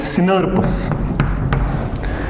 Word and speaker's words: snRNP: Those proteins are called, so यहीं पे मैं लिखूंगा SNRNP, और इनको प्रोनाउंस करने के लिए वी राइट इट सिनर्पस।